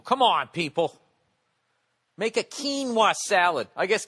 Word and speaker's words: quinoa: quinoa salad I guess quinoa even though it's spelt oay is not the way to say it's some ass on Twitter's giving me you're driving me crazy it's pronounced quinoa what kind of a